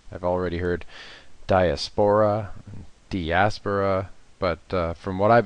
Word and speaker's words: Diaspora: a lot of changes, especially in things like pronunciation. I've already heard Diaspora, Diaspora, but from what I've been told, it's Diaspora.